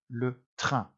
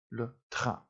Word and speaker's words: le train: And this word, of course, is spelt exactly the same as the English word train, but it is, of course, pronounced differently. Le train. Le train is how we pronounce that.